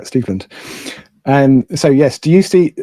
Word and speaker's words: Steveland: I've always pronounced it Stevland. Should it be Steveland? Right. Okay. Yeah, he's named after Stevie Wonder, whose real name is Steveland. Okay. And I did some research. I was tempted to call him up and ask, hey, how do you say your name? But then I found a clip of Diana Ross talking to him, and she said Steveland, so that must be true.